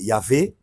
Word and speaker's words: Yahvé: Euh Yahwé, généralement prononcé Yahvé, euh a été traduit par l'Éternel.